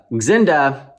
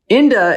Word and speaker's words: Xinda: This is Xinda. Inda if the X is silent, or Shinda if the English alphabet is useless for this brand.